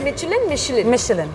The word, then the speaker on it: Michelin: तो ये जो मिशेलिन स्टार होता है ये Is it Michelin? Michelin, like yeah. with the pronounced SH. SH, yeah.